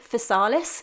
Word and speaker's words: Physalis: fruit so here in the uk we pronounce it facalis i know that there are many different ways